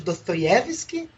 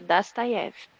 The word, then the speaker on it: Dostoiévski: A curiosidade que o Dani já falou pra mim milhões de vezes é Dostoiévski. Porque o O se pronuncia como A, não é isso não, Dani?